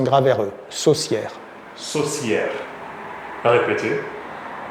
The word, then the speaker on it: saucière: C E accent graveux saucière saucière répéter saucière c'est un petit peu comme le mot sorcière presque oui ça se termine de la même façon sière oui prononc sorcière pour